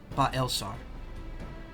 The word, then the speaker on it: Baelsar: Balsar, not Balsar. Balsar? Balsar, okay, not Balsar. Baelsar. Baelsar. They made changes they made to AR. Baelsar. Okay, it's 3 syllables.